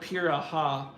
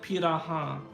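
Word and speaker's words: Pirahã: my very American voice, I would call it Piraha. But it's actually pronounced like Piraha, I think.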